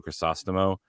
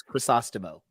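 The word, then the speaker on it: Crisostomo: most familiar with is daniel crosostimo uh or christa stomo or whatever different pronunciation people want to pronounce incorrectly or correctly but we know because he's been on our show and he gave us the correct pronunciation it's chrysostomo yeah uh he has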